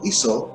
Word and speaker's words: Isa: And it's also in the Aramaic language of Hebrew, it would be pronounced Isa.